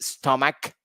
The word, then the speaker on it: stomach: We have another word for it: stomach, the sound of K.